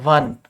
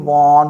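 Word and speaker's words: one: शब्द होता है वन इसको पढ़ते हैं ऐसे वन लोग इसको काफी वॉर्न वॉन वॉर्न ऐसे पढ़ते हैं लेकिन ये होता है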